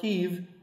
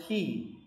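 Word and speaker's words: היא: It's still it's not pronounced heave, it's pronounced he, even when it's written with a vav.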